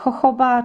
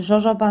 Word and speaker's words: jojoba: Zawiera cztery chyba różne olejki, bo zawiera olejek jojoba czy żożoba, zależy kto jak wymawia, olejek z awokado, a także olej kokosowy.